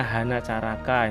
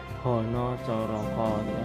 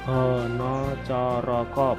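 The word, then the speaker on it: Hanacaraka: A di sini adalah A jejak, A dibaca O. H, no. Tulisannya kan banyak yang keliru. Ada tutorial bacanya Hana Caraka, itu nggak boleh. Itu harus Hana Hono Coroko. Dibaca Hono Coroko, bukan Hana Caraka. Nah, itu keliru.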